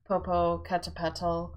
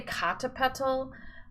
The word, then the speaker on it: Popocatepetl: there and it is various pronunciations of Popocatepetl Popocatepetl that some people say kata petal Popocatepetl some people say Popocatepetl maybe we should just call Popo some people say Popo polka caterpillar that's me that's my that's